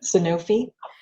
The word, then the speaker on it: Sanofi: I'm feeling a little meh about these when I look at the keywords, because the keywords here, how do you pronounce the company name, Trisha? Sanofi.